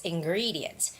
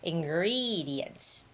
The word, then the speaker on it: ingredients: The stress is on ingre- -gree syllable. All right? So, it's ingredients, ingredients.